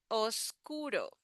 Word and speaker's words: oscuro: Again, the do here is like the flap T. Da, da, da. Oscuro.